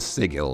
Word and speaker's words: sigil: Hard G. Okay, hard G, so it's a sigil, not a sigil.